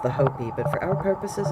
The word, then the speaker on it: Hopi: And it's actually pronounced the Hopi, but for our purposes it's the Hopi, symbolized by a couple of feathers.